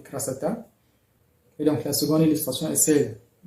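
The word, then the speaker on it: красота: Donc, on écrit krasota, mais on lit krasata.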